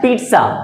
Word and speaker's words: pizza: तो असल में बाबू जिसका प्रोनाउंसिएशन होता है वो होता है पिज्ज़ा, कभी भी इसकी पिज्ज़ा प्रोनाउंसिएशन नहीं होती है।